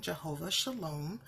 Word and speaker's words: Jehovah Shalom: noted in here for jehova sholom is the pronunciation jehova sholom also known as Yahweh Shalom and the name